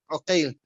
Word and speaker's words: عقيل: It's written the same, but in the pronunciation it's different. So you can see he gives the example, Muhammad ibn Aqil and Muhammad ibn Uqail.